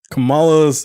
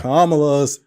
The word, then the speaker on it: Kamala: Think of the punctuation of a comma and then la.